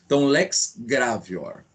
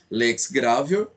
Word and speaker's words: lex gravior: Isso, pessoal, em latim a pronúncia é essa. Então lex gravior. Essa é a pronúncia correta. E o novácio, a gente soletra, né? Novatio legis impeius, como alguns falam, mas